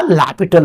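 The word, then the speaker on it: L'Hôpital: In fact इसका सही सही प्रोनाउंसिएशन होता है एल हॉस्पिटल ये साइलेंट होता है या लैपिटल बोल सकते हैं।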